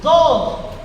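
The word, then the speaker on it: דוד: David, hermano, significa el amado y proviene de una raíz hebrea que se pronuncia dod, pero que esta palabra, hermano, puede traducirse como escucha, como amado, como querido y como amigo íntimo.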